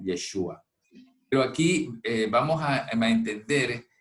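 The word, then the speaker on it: ישוע: qué significa verdaderamente, y debería decirse Yeshua, que es como su nombre se pronuncia en el hebreo, ¿no? Yeshua.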